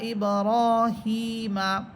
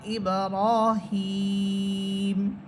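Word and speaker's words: إبراهيم: এখানে থামলে তিন আলিফ পরিমাণ টান হবে। এই জন্য যে জেরের পর ইয়া সাকিন হলে আমরা জানি এক আলিফ পরিমাণ টেনে পড়তে হয়। হা ইয়াসের হি, জেরের পর ইয়া সাকিন এক আলিফ পরিমাণ টান হবে। কিন্তু এরপরে হরফ হইতেছে মিম, আমরা যখন মিম হরফে গিয়ে থামতেছি তখন সেই এক আলিফটাই তিন আলিফ হয়ে যাবে এবং মিম হরফ সাকিন হবে।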